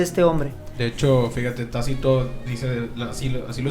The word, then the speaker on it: Tácito: donde su mano recuerda este se pronuncia tácito así es como el